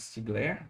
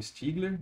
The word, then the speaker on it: Stiegler: Stiegler, não sei, né, o sobrenome dele é pronunciado de duas formas diferentes, porque ele era, né, francês e filho de alemães. Então, a versão francesada é Stiegler, a versão alemã vai ser Stiegler, mas ele e o